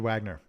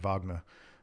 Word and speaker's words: Wagner: is it Richard Wagner he's German so it's actually Richard Wagner so Wagner is one of my favorite um you could say Wagner I guess but Wagner is the right way to say it um and it's that